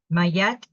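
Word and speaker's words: Ma'at: options and choose the highest good okay it's pronounced mayette it it's written in here with a Y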